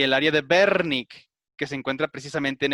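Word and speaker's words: Wernicke: exacto el área de berni con ese que la doble use la pronunciamos como si fuese un ave por lo consiguiente lo dijo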